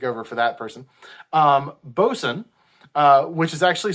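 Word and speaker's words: boatswain: would also take over for that person um bosun uh which is actually spelled boat swain but it's pronounced bozen was served underneath the first mate uh was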